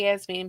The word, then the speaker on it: Yasmine: um when i say yes mean because i've watched a little video about it and that's how they pronounce it so i'm just going to go with that jazz mean whatever um the two